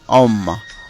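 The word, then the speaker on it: homme: যেমন আশ ও এম এন এ, এখানে আশের কোনো উচ্চারণ হবে না, ও এর কারণ উচ্চারণ হচ্ছে অম, অম।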